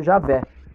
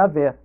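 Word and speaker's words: Yahweh: E é chamado Javé, que é interpretado como quem é e será. Viu? Então, ó, o nome de Deus também, entre os gregos, contém 4 letras, viu? Então, um fala que a pronúncia seria Yahvé. O segundo, esse cristão, né? Chama Clemente de Alexandria. Outro fala Orígenes, né? Que usa Yaé também. Ó, outro Iaó.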